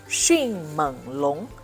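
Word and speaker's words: 迅猛龙: Por último, mais uma vez, temos o long junto, se pronuncia como Xinmenlong, que traduzimos como Velociraptor.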